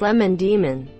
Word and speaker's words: Lemon Demon: lemon demon castel Vania is it pronounced lima demon or the Mon diamond it's pronounced lemon demon duh Lehman demon but I